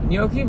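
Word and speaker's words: gnocchi: Nyoki really is one of those terms where like you pronouncing it right sounds like you're pronouncing it wrong.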